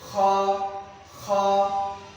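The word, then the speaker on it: خ: আর খ হবে ওই কণ্ঠনাদের শেষ ভাগ থেকে উচ্চারণ হবে খ খ।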